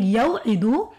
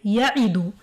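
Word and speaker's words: يَعِدُ: So instead of saying yaw'idu, they waw is totally removed and they say ya'idu for ease of pronunciation.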